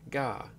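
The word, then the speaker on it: が: The G sound is always pronounced as a hard G. Don't be tempted to pronounce it like a J.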